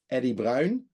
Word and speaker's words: Eddy Bruin: about for uh uh Eddie Brown that's how you pronounce your name in Dutch and uh Jordan cross